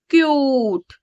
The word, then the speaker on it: cute: यूज यूस ख ट क्यूट क्यूट ट म्यूट यहां पर आपने एक बात नोटिस की होगी जब मैंने इसको पढ़ा तो मैंने कूट नहीं पढ़ा यहां पर मैंने मूट